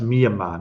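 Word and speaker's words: Myanmar: the country um mamar I think it's pronounced mamar not Mayar mamar that's with my Aussie accent and Marvel PX is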